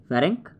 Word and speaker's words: Ferenc: दूसरा है फेरेंस क्राउस, फेरेंस की स्पेलिंग है FERENC, फेरेंक, और क्राउस इसी के